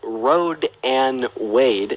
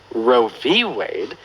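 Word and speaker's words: Roe v. Wade: here first of all it's not called Road and Wade it's called Ro Wade and pronouncing it wrong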